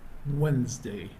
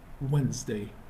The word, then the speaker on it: Wednesday: Wednesday I'm not reading the D is silent so it is Wednesday Wednesday Thursday Friday and Saturday